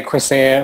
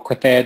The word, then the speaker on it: crecer: So you could say crecer or crecer, depending on which Spanish you speak.